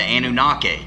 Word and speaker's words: Anunnaki: The Anunnaki, if I'm even pronounced, that's how I've always pronounced it.